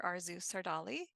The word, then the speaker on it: Arzu Sardarli: Arzu Sardarli. Am I pronouncing your name right?